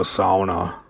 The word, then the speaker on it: sauna: For those that don't know, a sauna, which is the proper pronunciation by the way, is a hot steamy box you sit in for hours before you go jump in a snowbank.